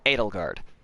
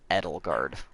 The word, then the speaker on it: Edelgard: Like, I always read that name and go, German, Edelgard. But I think Shadow pronounced it Edelgard.